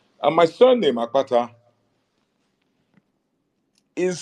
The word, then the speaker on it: Akpata: with a K now the eura version of that name is spelled a p a t a the b spell their version of the name AK k p a t a because in the B alphabet you have what they call expletives so the expletive KP is in my name but do you don't